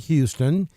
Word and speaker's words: Houston: Uh over here in Alabama, we pronounce it Houston. Georgia pronounces it Hston.